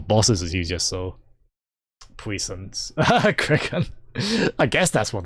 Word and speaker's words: puissance: Pissance? Was siphoned through fine stun gun. Puissance.